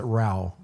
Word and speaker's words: Ra: Ra like Ra. Ra, yeah, they pronounce it Rao.